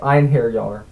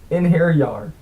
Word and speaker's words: Einherjar: You're one of the Einherjar now. He pronounced the word like Einherjar. Einherjar, I repeated. Just rolls right off the tongue. Yeah, singular. Einherjar. He said it like Inherjar, or Inheryi.